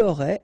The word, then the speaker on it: aurait: J'aurais, final S not pronounced, tu aurais, same thing here, il aurait, elle aurait, final T not pronounced, so phonetically exactly the same form here.